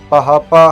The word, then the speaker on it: بھاپا: کو ایک طرف رکھیں۔ بھاپا، جس کا تلفظ پہاپا ہے، اس ایک ایسی اصطلاح